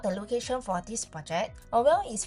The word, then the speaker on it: Aurelle: So I actually pronounce it as Aurelle of Tampines. People say Aurelle, not Aurelle, not Aurelle, it's just Aurelle.